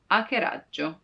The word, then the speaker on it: hackeraggio: Hackeraggio. You see, it's not hack, but hackeraggio, because the H is always silent in Italian.